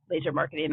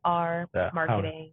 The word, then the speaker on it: LZR Marketing: And that's LZR, but it's not pronounced LZR. LZR Marketing. Yeah. I got props for getting it right. Yeah. That was good. LZR, Laser, people use it interchangeably.